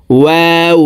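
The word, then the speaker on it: و: ফু ও জবর ওয়া দুই ঠোট গোল করে দুই ঠোটের মাঝে ফাঁকা রেখে ওয়াও হরফের উচ্চারণ হবে ওয়াও জবর ওয়া ওয়াও জের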